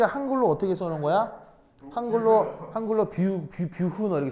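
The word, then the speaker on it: Büchner: 사람 이름은 되도록 원어에 가깝게 발음하는 게 뭐 예의가 아닌가. 배운 사람으로서 예의가 아닌가 싶어서 말씀드립니다. 그래서 이렇게 생긴 깔때기를 뷰흐너 깔때기라고 한다.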